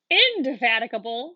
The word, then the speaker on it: indefatigable: does this word have how many syllables remember we see one two three four five six this is a six syllable word good what is the